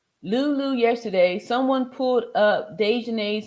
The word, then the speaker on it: Daejanae: Lulu yesterday, someone pulled up Daejanae's name. There were so many she had to scroll. It was scary. Wow. So Daejanae is a pretty popular name, huh? Day. Anyway, I know a Daejanae too.